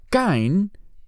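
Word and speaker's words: קַיִן: a luz a Caín caen es la pronunciación en hebreo del nombre Caín en español y Caín o Cain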